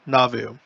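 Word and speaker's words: Nauvoo: red circle now vu right navu that's how we pronounce it in in english uh in navi so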